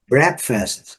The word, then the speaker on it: breakfast: Breakfast, café da manhã, breakfast, colocamos o U aqui antes do R, a sílaba forte está marcada aqui com esse símbolo, os dicionários fonéticos vão mostrar para nós qual que é a sílaba forte, né? Então a primeira sílaba é a sílaba forte, breakfast. A letra A não é pronunciada e o E com